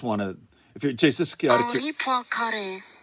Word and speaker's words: Henri Poincaré: I just want to, if you're just Henri Poincaré, French.